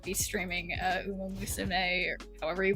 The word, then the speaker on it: Uma Musume: Isn't it Uma Musume? I swear it didn't have that many. I feel like it didn't have that many. It doesn't have that many. It doesn't have that many syllables. I swear. But whatever. Yeah, it's Uma Musume.